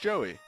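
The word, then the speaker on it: Jowy: Ryu the friend blue boy his name is pronounced Joey more or less it's like ji Oh Joey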